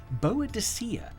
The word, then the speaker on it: Boadicea: is go back to her name which today we pronounce as buddika however for anyone watching this who was born before 1960 boa deia is the only way to pronounce this Warrior Queen's name so